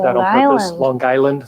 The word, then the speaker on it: Long Island: I said that on purpose, Long Island. They always pronounce it with one word. It's not long, it's not island, Long Island.